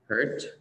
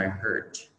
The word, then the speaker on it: heart: Sự khác biệt giữa hai cái từ này là cái nguyên âm của từ. Nguyên âm của từ heart nó là âm R. R. Mình phát âm R. Heart. Heart. Còn nguyên âm của từ hurt là âm hurt. Heart. Hurt. Đó.